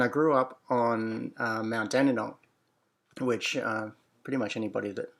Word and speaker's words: Dandenong: And then over time, the spelling and the pronunciation changed and it became D instead of G, and it got an E instead of a Y, so it became Dandenong.